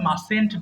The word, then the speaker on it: mustn't: জি এটা মাস্ট নট কি একসাথে আমরা মাসেন্ট বলবো, হ্যাঁ মাঝখানে যে টিটা আছে দেখেন আমি রেড মার্ক করে দিয়েছি, এটার কোনো উচ্চারণ হবে না।